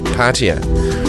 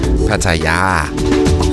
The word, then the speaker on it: Pattaya: it's best price guaranteed the British say Patea we Danes say Pattaya and the Thai people themselves say Pattaya but it's really much